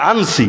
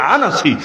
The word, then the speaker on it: আনাসি: আসওয়াদ আনাসি আসওয়াদ আনাসি অনেকে বলে আনছি মূল উচ্চারণ আনাসি এই দুইটা ভন্ড নবীর মধ্যে আসওয়াদ আনাসিকে আল্লাহর নবী নিজের জীবদ্দশায় হত্যা করিয়েছেন।